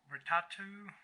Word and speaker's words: Votatu: We're back here with the Votatu, V-O-T-A-T-U, exactly how you pronounce it right, M4L series.